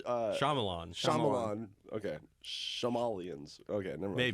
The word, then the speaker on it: Shyamalan: Wait, how do you pronounce? Shyamalan.